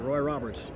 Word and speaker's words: Roy Roberts: Have I pronounced the name right? That's right, Roy Roberts.